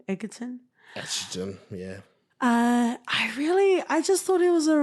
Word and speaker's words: Egerton: Taron Egerton, I think is the way you pronounce it. Egerton.